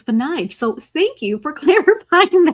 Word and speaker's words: Vanides: I'm so glad you said your last name because this whole time I thought it was Vanzas because it looks Spanish, but it's Venage.